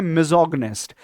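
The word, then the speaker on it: misogynist: Okay, next देखते हैं मिजोगनिस्ट, इसको प्रोनाउंस करते हैं मिजोगनिस्ट।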